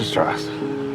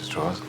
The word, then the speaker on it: Strauss: Strauss. It's pronounced Strauss.